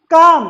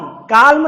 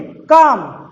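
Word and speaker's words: calm: अब इन शब्दों को क्या पढ़ेंगे, काम, काल्म नहीं, काम, टॉक, कॉफ, शाम, मैंने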